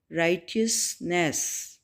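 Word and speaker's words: righteousness: यहाँ पे जो स्टेरिक लेटर एच है वो साइलेंट लेटर होगा और इसको प्रोनाउंस करेंगे राइटियसनेस, नेकी, हक, ठीक है, इसका मतलब होता है नेकी, हक।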